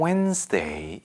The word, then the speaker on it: Wednesday: On Wednesday. 이거 수요일, Wednesday 아니고요. 물론 저도 이 단어 스펠링을 외울 때 예전에 학창시절에 많이 헷갈려서 Wednesday라고 외우면서 발음은 Wednesday라고 해야 됩니다. D 발음이 나지 않죠.